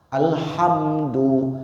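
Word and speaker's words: الحمد: Alhamdu segala puji bagi Allah. Kalau tertukar huruf ha menjadi huruf H kacamata H besar, maknanya perbedaan maknanya antara langit dan bumi.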